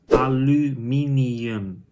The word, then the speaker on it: aluminium: In Dutch is aluminium. So look closely at the 2 different pronunciations of the same letter U.